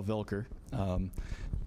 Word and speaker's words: Vilker: my name is vilker i know i get called volcker a lot but for my german grandparents and parents i'm going to stick with that pronunciation i like many moved to this city years ago 32.